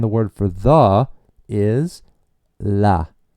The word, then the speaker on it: el: The masculine Spanish word for the sounds like L. L. And in case you're watching this video in your car, that's spelled E L. And just sounds almost like you were saying the letter L almost.